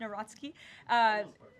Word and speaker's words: Nawrocki: He met with Karol Nawrocki, if I'm pronouncing that correctly. Yes, Nawrocki.